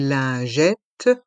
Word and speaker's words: lingette: les lingettes les mouchoirs dans le mot lingette le I et le N font le son un lin lingette et les deux t de lingette restent en suspens et le s est muet lingette les mouchoirs dans